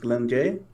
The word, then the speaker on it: Glenn J: name for yourself uh my indian name is pronounced glenn jay and i chose it because i lacked a